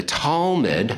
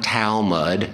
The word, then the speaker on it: Talmud: anywhere okay so the talmud okay and that's not towel mud sorry i grew up